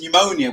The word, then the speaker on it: pneumonia: person in uk who pronounces pneumonia with a p that is shocking isn't